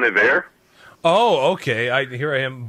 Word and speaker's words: Iver: It's technically pronounced Bon Iver.